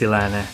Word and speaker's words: Sri Lanna: right way to pronounce silana National Park is with a silent r in the middle so it is pronounced silane National Park this is